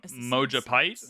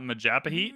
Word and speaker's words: Majapahit: I just learned it was pronounced uh Mojapite and not Majapahit, and that makes perfect sense.